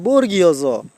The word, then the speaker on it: বর্গীয় জ: থেকে ম পর্যন্ত এই শব্দ সরি বর্ণগুলা হচ্ছে বর্গীয় বর্ণ তাই আমরা যে ওই যে একটা আছে চ ছ জ এই জ টাকে আমরা বর্গী বলি এই বর্গীর না আসলে এটার উচ্চারণ হবে বর্গীয় জ তারপরে হচ্ছে আপনার ওই স্বরবর্ণতে আমরা উচ্চারণ করি